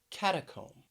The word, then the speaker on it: catacomb: word which is catacomb catacomb three syllables stresses on the first syllable catacomb when i travel